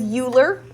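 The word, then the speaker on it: Euler: hold on wa what his name was uler it sounds like ruler without an R but his name is spelled e u l e r the only reason we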